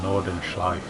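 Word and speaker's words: Nordschleife: to the nerd burgering not the uh not the nordan schli cuz that's how you say it um circuit because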